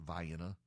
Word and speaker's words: Vienna: They have Vienna, but it's pronounced Vienna.